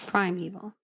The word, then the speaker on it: primeval: It's primeval. It sounds like a weevil, like a thing, like a weevil.